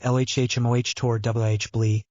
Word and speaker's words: Locomotor Wibbly: It is locomotor wibbly, pronounced LHHMOH tor WH blee, and it is very distracting.